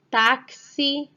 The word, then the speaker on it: táxi: Vamos ver agora algumas palavras onde o X tem o som de CS ou KS. Ele tem o som XI. Primeiro o som do C ou do K, que nesse caso são iguais, e depois o som do S.